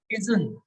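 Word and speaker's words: إذن: اسی طرح اذن، یہ جو ہے قرآن میں اذن دو زبر کے ساتھ لکھا آتا ہے. یہ تلفظ اس کا ہوتا ہے اذن، تو یہ اذن جو ہے ایسے لکھا آتا ہے.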